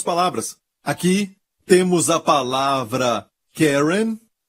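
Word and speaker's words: קרן: palavra Hebraica para ela é Karen ou querem é assim se pronuncia em hebraico querem se o seu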